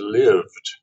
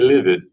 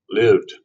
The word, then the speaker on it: lived: tense of live is lived and it's pronounced with one syllable because the e is silent so don't say livid one silent well one one syllable lived he lived in the